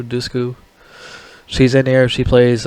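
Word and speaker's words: Dushku: movie I think Eliza dusu that's how you pronounce her name dusu dusu she's in here she plays AR teenager daughter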